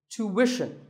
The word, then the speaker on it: tuition: But after that, it's not ishan, it's wishin, tuition. You have to put the w sound there, so tuition.